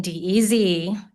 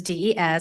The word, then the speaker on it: Des: My name is not Dez as in deez. It is dees and I always spell it that way.